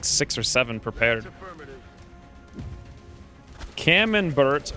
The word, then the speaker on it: camembert: six or seven prepared camembert rhymes with cucumber wait pro nouns okay